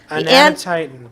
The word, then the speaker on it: Anatitan: how do you pronounce it again? Anatitan.